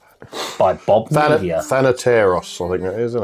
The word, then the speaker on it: Thanateros: Thanateros, I think that is, isn't it? Thanateros. Pronunciation, yeah.